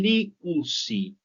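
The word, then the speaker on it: λύουσι: Y liusi, ellos o ellas desatan. Acuérdense, diptongo o u se pronuncia como u.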